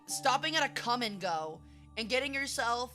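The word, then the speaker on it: Kum & Go: Okay, for example, if you ever drive through Arkansas, the number one common gas station in Arkansas is called Come and Go, and it's spelled K-U-M.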